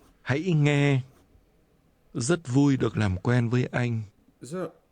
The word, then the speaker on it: làm quen: Làm quen. Làm quen. Quen. Quen. Làm. Làm. Làm quen. Làm quen. Làm quen. Làm quen. This is pronounced with a low, falling, and a mid-level tone.